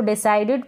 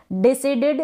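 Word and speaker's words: decided: फिर यह है डिसाइडेड इसको डिसाइडेड पढ़े डिसीडेड ना पढ़े क्योंकि डिसाइडेड का तो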